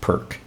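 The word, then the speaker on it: Pirc: I always thought this was pronounced perk, but I hear a lot of people pronouncing it Pierce, which I think makes sense.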